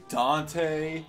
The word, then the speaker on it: Dante: a pool it's pronounced dante like devil may cry all you have to